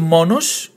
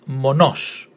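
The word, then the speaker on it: μονός: So instead of monos, which was the previous word, now it's pronounced monos. Monos. The emphasis in the last syllable.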